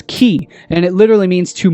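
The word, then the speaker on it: χ: letter of the uh ancient Greek alphabet pronounced as as key and it literally means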